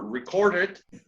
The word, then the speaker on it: recorded: And remember, recorded, con la ed al final, since it's a regular verb, in this case we pronounce the E.